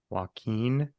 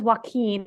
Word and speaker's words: Joaquin: Joaquin. So one is Joaquin, one is Joachim with an N to an like. So the original was Joaquin, like Joaquin Phoenix, spelled the same way.